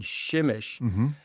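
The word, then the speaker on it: Przemyśl: So, I took a train to a uh far eastern part of Poland to a town called Shimish. and shimish because what's interesting on shimeish is it's spelled P R Z E M Y S L naturally shimish.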